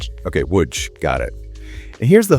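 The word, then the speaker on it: Łódź: Yeah, it rhymes with wood and then just add a soft g sound. W. Okay, woodch.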